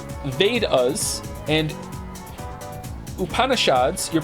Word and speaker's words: Vedas: The Vedas, pronounced Vedas, and Upanishads, your pronunciation was quite close, are actually ancient Hindu texts.